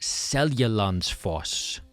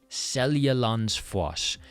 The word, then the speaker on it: Seljalandsfoss: We're talking about Seljalandsfoss. Seljalandsfoss, made up of three words. So, we've got Selja, lands, foss. Once you break it down, it's pretty straightforward.